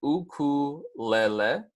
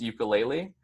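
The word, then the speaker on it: ʻukulele: house displayed on screen this is a common misconception on how uh Kahlua is pronounced so it's going to be a coup Layla so you can repeat that once more back with me that's going to be oku Layla I know a lot of the time is pronounced ukulele but this is just showing you of the pronunciation with the Hawaiian language so if you guys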